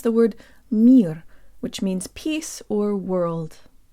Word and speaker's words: мир: This word is simple, but we need a good Russian default mouth position to make it sound Russian. Jaw slightly forward, tip of the tongue behind the bottom teeth, lips rounded and protruded.